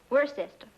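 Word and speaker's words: Worcester: else too dark but it's spelled w-o-i-c-e-s-t-e-r we're a sister oh yes I see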